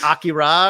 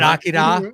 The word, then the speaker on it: Akira: Now, has anybody conned you on the pronunciation? Because that's probably coming. What, like Akira or whatever? Isn't it Akira or something like that? I mean, I don't think anybody expects us to do correct international pronunciations at this point. You say that, and I got corrected more than once. It's Akira, but it was also by